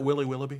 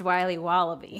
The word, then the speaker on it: Wiley Wallaby: Can I have a piece of that Willy Willoughby? Wally Wibbly. Wiley's Wallabies. Wallaby Wallies? Willoughby Wobbaby? It's pronounced Wiley Wallaby.